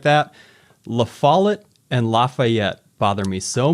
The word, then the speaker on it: La Follette: me so much because if you pronounce the double L's in La Follette like a Y, like the Spanish word for brochure is el folleto or something. And so if you were to pronounce La Follette like that, you end up with something that sounds almost exactly like Lafayette.